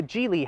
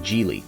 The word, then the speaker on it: Geely: Yes, it's pronounced Geely, not Geely.